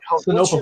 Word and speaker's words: Sinopa: Sonopa Publishing.